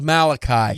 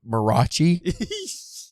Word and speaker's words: Malachi: I kept calling him, it was Malachi. Yeah. The whole time I read it, because I phonetically pronounced it Marachi. So the whole book, I never read it out loud.